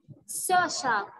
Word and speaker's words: social: social studies social studies. عندي هنا CIA انطقها شا.